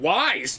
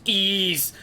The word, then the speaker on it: Ys: immediately following his was i bet you're pronouncing wise too it's not pronounced that way if you say it though it's pronounced ease and he went on